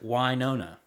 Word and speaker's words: Wynonna: And that is how they pronounce it, Wynonna, because...